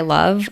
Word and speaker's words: LUV: The ones I always buy are by Love, LUV, I believe is how you pronounce it.